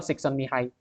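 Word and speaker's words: Csikszentmihalyi: mihai son mihai yaitu tulisan yang rumit itu bacanya adalah son mihai jadi bisa dikatakan Martin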